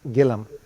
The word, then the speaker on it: Gilliam: And it's my really privilege and honor to introduce Brian Gillam. Now, I didn't realize his last name is Gillam because it's spelled as Gilliam. So I apologize for that.